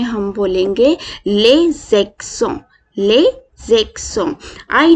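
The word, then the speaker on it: les accents: अभी आप मेरे साथ इसको प्रोनाउंस करें। द फ्रेंच एक्सेंट इज ले ज़ेक्सों, ले ज़ेक्सों, ले ज़ेक्सों, ले ज़ेक्सों।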